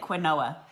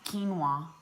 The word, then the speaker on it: quinoa: of his salad and I called it queneau ax yeah and the guys like um that's pronounced quinoa I'm like oh thank you